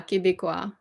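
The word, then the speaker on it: Québécois: How do you pronounce this? Que be a queba a be qua. Yeah, Quebecois.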